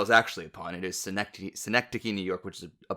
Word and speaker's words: synecdoche: just during this conversation i just keep saying cynic dose no that's not i know that's not how it's pronounced that's how i read